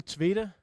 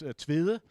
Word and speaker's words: Tvede: Yes, name is Tvede. At least that's how you pronounce it internationally, I think. In Danish, it's Tvede, but you cannot say that, so we'll stick to Tvede.